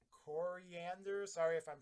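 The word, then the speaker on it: Koriand'r: the seven-drop starfire i think her name's pronounced coriander sorry if i'm pronouncing that no that's right okay yeah coriander star fire uh zahl's fury and what she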